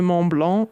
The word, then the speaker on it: Mont Blanc: how her Tour de Mont Blanc went. I am French, so I have to say it properly.